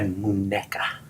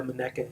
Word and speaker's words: muñeca: What is a muñeca? Muñeca. It is spelled M-U-N-E-C-A.